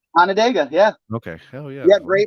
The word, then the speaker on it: Onondaga: did I pronounce it right? Onondaga.